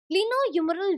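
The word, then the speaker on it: glenohumeral: अब मैं तुम लोगों को प्रोनाउंसिएशन बता रही हूँ, ग्लीनो ह्यूमरल joint of the shoulder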